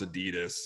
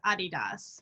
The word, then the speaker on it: adidas: if there's official company policy around how to pronounce adidas sometimes I say adidas sometimes I feel like